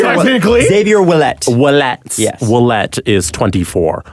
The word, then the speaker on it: Ouellet: How do you pronounce that? Technically. Xavier Willett.